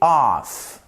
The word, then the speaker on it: off: Dans cette vidéo, nous allons apprendre à bien faire la distinction entre la préposition of, donc vous voyez que ça se prononce of, et off.